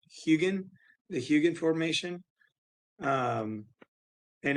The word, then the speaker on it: Hugin: that's awesome and i think the formation is pronounced hugin the huge formation um and it's a sandstone